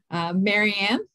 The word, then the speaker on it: Marianne: you so much larry marianne hi i'm marian rhymes with librarian which you'd never